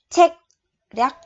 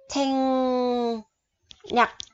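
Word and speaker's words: 전략: Rồi, không có đọc là check rắc mà đọc là chèn nhặc, chèn nhặc.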